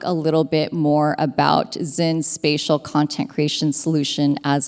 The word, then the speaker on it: XYN: Yeah, so last CES 2025 at CES, we announced XYN, pronounced XYN, a suite of Sony solutions that support spatial contemplations.